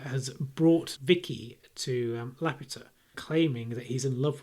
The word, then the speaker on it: Laputa: Laputa. Laputa. Laputa. That's the pronunciation in Castle in the Sky, so Okay, fine.